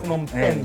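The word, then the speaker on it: Phnom Penh: 이게 영어 발음으로는 펜이라고 하는데 원래 뺑이에요. 뺑. 아, 펜. 네, 푸놈뺑이라고. 푸놈뺑, 이거네요.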